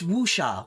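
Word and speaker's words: wuxia: it kind of uh pronounce wusha wusha thank you again waxia I how that becomes wusha whatever cool I'll dig it now I know wusha so we got two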